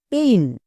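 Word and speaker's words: pain: এবার একসঙ্গে উচ্চারণ করো পি এ আই এন পেইন এটা হচ্ছে সঠিক উচ্চারণ এবার আমি যদি আবার এই ওয়ার্ড টাকে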